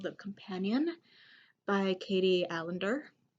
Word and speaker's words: Alender: So the next book review I got is called The Companion by Katie Alender. Kind of rhymes with calendar.